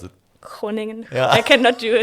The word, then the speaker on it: Groningen: How do you pronounce it? Groningen.